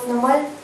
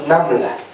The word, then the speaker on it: Naml: Surat Namal. Prononciation exacte. Nakabala suratul Naml.